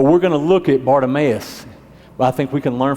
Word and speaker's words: Bartimaeus: with people ok went a little bit about Bartimaeus that's how you say his name Bart if it makes sense Bartimaeus and Bartimaeus his his name actually means honor